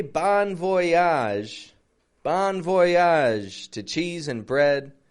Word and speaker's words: bon voyage: a g e and notice that voage another one of those a sounds just like genre by the way if